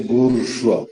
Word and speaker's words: bourgeois: When you say bourgeois, for example, B-O-U-R-G-E-O-I-S, the S is silent.